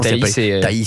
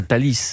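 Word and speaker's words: Thaïs: Mais Taï a bien fait de rappeler qu'elle veut pas que ça soit Taï. Pas Tis. Taï.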